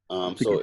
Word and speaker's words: Sault: It was just Salt. SAULT. So it's just so like during the time